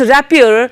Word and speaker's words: rapport: So the secret of developing such relationship comes down to rapport, pronounced rapport.